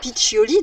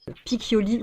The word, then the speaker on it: Piccioli: la connerie parce que je savais pas comment prononcer Betty Piccioli, donc puisque j'hésitais à le prononcer soit Piccioli ou Piccioli. Elle m'a dit non, Piccioli s'il te plaît, hein, sinon hop là, attention.